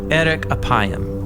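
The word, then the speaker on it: ארך אפים: In Hebrew, the phrase slow to anger is pronounced eric apayam or literally long of nose.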